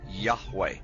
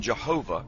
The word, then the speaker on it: Yahweh: The pronunciation Jehovah is an older, less accurate rendition of these letters. It originated with the early German translators of the Hebrew language and their sounds, thus the more Germanic sound of Jehovah.